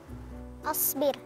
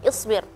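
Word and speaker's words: اصبر: Ya, sebenarnya Kak Irfan pelafalan harakah di kosakata tersebut asbir atau seharusnya dibacanya isbir, ya. Karena kalau asbir itu berarti saya yang sabar. Tapi kalau isbir perintah untuk kamu sabar.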